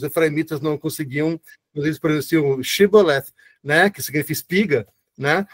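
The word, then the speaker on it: shibboleth: não conseguiam, eles presenciam chibolet. né, que significa espiga, né? Eh, eh, não interessa que a palavra significa, só que eles eles não conseguem pronunciar shíbola, eles falavam zíbol, né? Zíbola.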